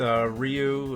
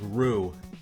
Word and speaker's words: Ryu: the pronunciation there with Ryu, like you know, like I think I still didn't get it right because I think it's like ru. It's that's what it's supposed to be.